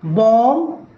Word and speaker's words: bomb: Whenever we find the spelling MB at the end of any English word, the B must be a silent letter. Examples: thumb, bomb, tome, claim, comb, ila, right?